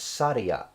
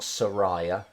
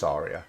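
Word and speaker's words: サリア: and here's my chance it's saria it's not soraya if you say soraya because the japanese pronunciation for the most part isn't ambiguous um so yeah it's zarya not soraya uh saria omaya itsuka de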